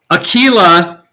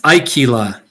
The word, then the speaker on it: Akilah: care of yourself everybody akilah i keep pronouncing your name wrong it's aikila here just love man